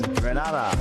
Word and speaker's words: Grenada: So today, like we Germans say, we are in Grenada. But I heard in English it's called Grenada. Say it right. Grenada. Say it right. Grenada. That's right. Grenada. There we go. Say it right. It's Grenada. It's not Grenada. It's Grenada. Say it right.